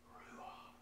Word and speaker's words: ruach: Whereas the word for spirit and wind is ruach. Yeah, so it's a blowing out.